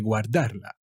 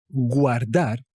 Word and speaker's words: guardar: Hay que guardarla. So, guardar, yes, always pronounce the U. Do not say guardar, okay?